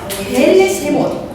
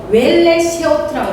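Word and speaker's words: ואלה שמות: 베엘레쉐못. 히브리인들은 이 출애굽을 베엘레쉐못이라고 읽었어요. 근데 발음이 조금 그런데요. 그 그레드 주석을 보면 웰레쉐오트라고 되어 있어요. 그러니까 발음 차이인 거예요. 그냥 베엘레쉐못 해도 돼요.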